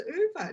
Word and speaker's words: Ove: a man called uber um which i always pronounced as a man called ove until only a couple of weeks ago when i found out it was over does everyone laugh anyway i was today old